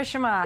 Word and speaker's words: Shammas: Just wanted to make sure I pronounced your name correctly there Yeah, that's right. Shammas.